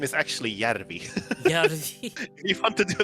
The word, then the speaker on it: Järvi: His real name is Sami Järvi, and he's just like translated that to Sam